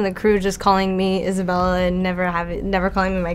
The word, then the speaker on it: Isabela: Isabella, am I saying it correctly?